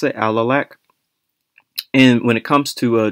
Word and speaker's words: Alalakh: So in addition, Barkin N/Tel Kurdu EC and/or ancient Caucasian groups cannot successfully model Ebla, early Middle Bronze Age, and Alalakh, Middle Late Bronze Age, in QPADM, suggesting that these sources do not represent good proxies of their true ancestries.